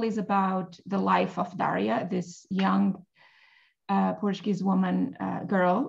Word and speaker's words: Daria: Can you tell us what Daria is about? So I pronounce it Daria. I prefer the open vowel.